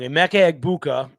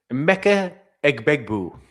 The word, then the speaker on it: Emeka Egbuka: I will not be Rob Gronkowski and pronounce his name wrong. Emeka Egbuka. Emeka Egbuka.